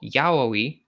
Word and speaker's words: Yayoi: month the third day or yahoi as it is pronounced in Old Japan so the priest quickly